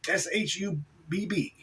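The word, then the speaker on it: Schubb: They say you pronounce it SHUBB.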